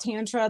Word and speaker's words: Tantra: So we'll just start with the word itself, Tantra. And it's also pronounced Tantra. That's more an American pronunciation. So however you want to pronounce it, there's no right or wrong way.